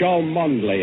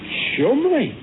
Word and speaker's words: Cholmondeley: Chumley... Now, it's Cholmondeley, actually. Cholmondeley. No, it's only spelt that way, my dear fellow. You see, it's pronounced Chumley.